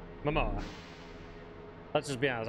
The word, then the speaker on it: Momoa: if Jason Mamoa or how do you say it is it Mamoa or is it uh Momoa Momoa let's just be honest